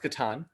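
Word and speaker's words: Catan: okay that's cool and it's pronounced katan okay katan sorry it's pronounced both ways but it's properly pronounced katan okay so yeah uh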